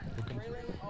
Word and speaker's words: Håkansson: Håkansson. They have the long O. Yeah, long O.